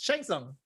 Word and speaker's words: Shang Tsung: The T is silent. No, yeah, but the beginning is an SH. Shang Tsung. Shang Tsung. It's an SH, bro.